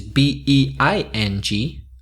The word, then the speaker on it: being: On the other hand, being, which is B-E-I-N-G, and it has two syllables, dos sílabas, being, is the present participle of